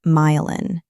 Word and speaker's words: myelin: The plastic sleeve on the outside is called the myelin sheath, pronounced myelin.